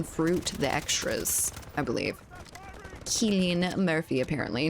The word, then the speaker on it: Cillian: I think it's a hard C in his name, so to speak. Cillian.